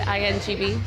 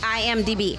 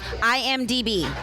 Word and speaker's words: IMDb: Was it INGB? IMDb. IMDb.